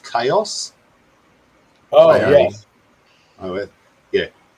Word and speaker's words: Kaos: It's called Chaos.